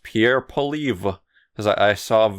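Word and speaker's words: Poilievre: canadian conservative party um his name is i believe pronounced pierre pauliev because i i saw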